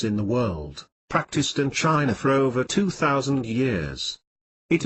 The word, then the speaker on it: chi: run through the body from head to toe chi pronounced chi or life energy flows through these meridians